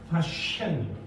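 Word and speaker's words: Paschen: 쉐 입술 움직이지 않고 발음해. 파셴이에요.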